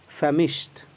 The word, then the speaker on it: famished: Okay, जब आप FAMISHED को प्रोनाउंस करेंगे तो इसका प्रोनाउंसिएशन होगा फेमिश्ड, यानी कि ट पर लास्ट करेगा, ड पर नहीं। डी को टी जैसा पढ़ेंगे, टी का साउंड ट होता है, ऐसा ही पढ़ेंगे।